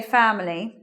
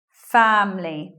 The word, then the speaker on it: family: village in that time you will hear people say family but sometimes you'll hear this way family just with two syllables elision of schwa after M means that we're not saying that either so it just becomes family next word how many